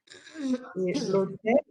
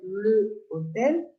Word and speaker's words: l'hôtel: L'hôtel, we don't say le hôtel, we say l'hôtel. Because the H here, we don't pronounce the H.